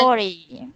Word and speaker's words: forty: The OR 40. is pronounced with an O. Okay, bye, Sadao. We'll see you next week. Have a good week. Okay, so 40. And then 40.